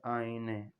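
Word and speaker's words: آینه: کے بعد لفظ ہے آئینے۔ آئینے وہی آئینہ، فقط تلفظ کا فرق ہے، باقی کوئی فرق نہیں ہے۔ ہم کہتے ہیں آئینہ، فارسی والے کہتے ہیں آئینے۔ اس کے بعد لفظ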